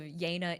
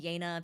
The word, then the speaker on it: Yena: So, the pronunciation of Yana isn't like in like hyena like obviously like it's it's supposed to be the Korean pronunciation like you know Choana.